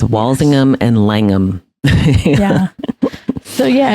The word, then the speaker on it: Walsingham: yeah so it's it's wallingham so they don't say the H so it's wallingham and langum yeah so